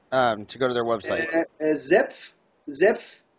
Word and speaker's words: Zepf: Zepf. How do you spell that?